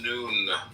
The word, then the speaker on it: Nun: Nun pronounced noon, transcribed as and the number 50, meaning fish, the imaginative intelligence.